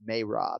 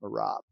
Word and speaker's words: Merab: just found out by the way in our pronunciation of the week segment that it's mae rob and not murab meiron yeah yeah um so how are you